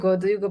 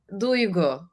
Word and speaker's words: Duygu: Duygu, as if you say Digu. to go somewhere, but it ends with a U, so Duygu. So it's a high U sound.